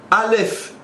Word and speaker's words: Alef: le prononces par contre en hébreu Alef s'écrit avec un signe le Alef mais se prononce avec trois signes trois lettres à LEF tu as rajouté un Lam tu as rajouté un P deux lettres qui sont cachées quand tu écris et qui sont dévoilées quand tu prononces de